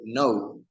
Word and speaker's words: know: here in the slide we have the word no no the phon K it is obviously there we don't pronounce it we just pronounce n o w no those those sounds but